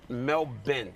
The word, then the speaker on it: Melbourne: is the way SP just put like a bin on the end melbour just just cut it half the word melbin Mel okay I asked